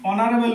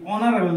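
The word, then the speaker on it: honorable: এর নামের আগে কি হবে ইন হি ইজ অনারেবল ম্যান তিনি একজন সম্মানিত ব্যক্তি অনারেবল দেখ এখানে এই আছে এই থাকলে বসাই তো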